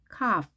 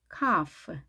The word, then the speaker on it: calf: 송아지 calf, calf 또는 calf, calf. L 발음이 되지 않습니다.